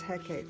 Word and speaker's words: Hecate: looks like here though hecate i believe the in-between yeah it is hecate because i see it down here with a regular font so there you go